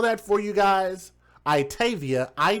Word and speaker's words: Itayvia: I'mma spell that for you guys. Itavia.